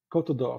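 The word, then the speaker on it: Côte d'Or: So it's a French French word for gold co.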